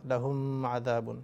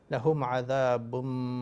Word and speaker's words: لهم عذاب: লাহুম আযাবুন, এখানে আমরা এভাবে বলবো না লাহুম আযাবুন, তাহলে এটা ভুল হবে। লাহুম আযাবুম মিররিজিন, এই মিমকে ধরতে হবে।